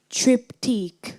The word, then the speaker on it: triptych: Am I pronouncing the word correctly? Triptych.